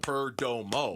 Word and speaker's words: Perdomo: Yeah, only when you say it real slow and you clap out the syllables. Perdomo.